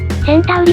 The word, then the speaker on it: Centauri: I was curious, so I checked with the folks at the company, and Centauri seems to be the official pronunciation.